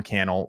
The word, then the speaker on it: Cannell: My name is Sean Cannell, rhymes with YouTube channel.